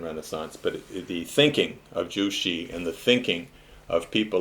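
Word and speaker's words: Zhu Xi: was this kaijushi and jushi which is spelled z-h-u-x-i jushi was a great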